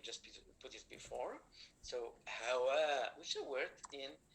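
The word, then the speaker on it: حواء: Ha is when we pronounce it from the throat. So ha, like hajj, like hawa. So hawa is Eve, Hawa, Adam and Hawa. It is with ha, Mr. Sultan.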